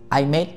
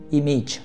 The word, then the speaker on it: image: từ cuối cùng là image im Made không phải không phải cái từ này phát âm là image và đến cái từ